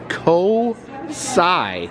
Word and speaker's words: COSI: the ticket desk and she said it is pronounced co-sigh so that's what we'll